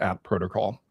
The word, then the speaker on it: AT Protocol: It's at protocol, which makes sense. It's the at sign, right?